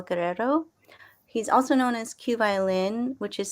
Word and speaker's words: QVLN: husband gets all guerrero he's also known as q violin which is spelled qvln and as philippines and wellness we